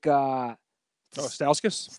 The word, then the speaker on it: Stauskas: How do you pronounce his last name? Nick. Stauskas.